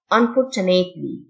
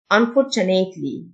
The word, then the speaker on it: unfortunately: text message text message لسوء الحظ unfortunately التيو تنطق تشه unfortunately مذهل amazing amazing بخاصة